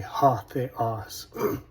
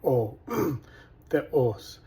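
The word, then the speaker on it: ὁ θεός: In Erasmian, we'd say ha theos, but in the reconstruction, o theos, and so you don't pronounce the rough breathing sound in the reconstruction. Anyways, o theos could be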